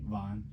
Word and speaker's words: Van: I also work at a cafe with Elizabeth Van Presley. Am I saying it right? Vaughn. Yeah. See, I messed up.